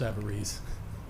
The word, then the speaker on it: Sabares: uh no just that my name pronounced Savar sorry that's all it's